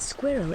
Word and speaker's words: squirrel: Some suggest that squirreled could be included, but squirrel is intended to be pronounced as 2 syllables, squirrel, according to most dictionaries.